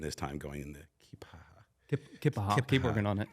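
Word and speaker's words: Keya Paha: I think it's pronounced Kipaha. Kipaha. Yeah, depends on who you are.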